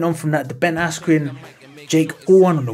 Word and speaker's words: Askren: I mean, Michael Buffer getting Ben Askren's name wrong as Ben Askew, that was kind of funny actually, but still, I don't know, man.